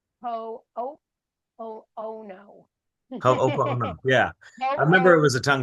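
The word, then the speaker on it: Hoʻoponopono: It is pronounced ho oh oh oh no. Ho'oponopono.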